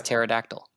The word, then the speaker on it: pterodactyl: It's the P is silent. It's pterodactyl.